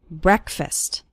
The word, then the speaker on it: breakfast: while eating breakfast and the first syllable of breakfast is pronounced with an e sound it's not like the word break it's like bre breakfast or listen to an